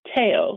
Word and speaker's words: Theo: Aloha all right well it's wonderful to have Teo on this morning and and as he pointed out it looks like Theo as it's spelled but it is taao is how he pronounces his name and reach